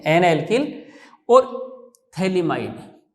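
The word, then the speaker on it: phthalimide: इसका नाम है एन एल्किल, ठीक है, एन एल्किल और थैलीमाइड, पीएच साइलेंट रहता है, एन एल्किल थैलीमाइड, ठीक है बच्चों।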